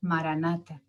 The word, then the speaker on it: Maranatha: El mantra que recomendamos es Maranatha, una antigua plegaria cristiana en la lengua de Jesús, el arameo, que significa ven Señor. Repite la palabra con 4 sílabas iguales. Maranatha.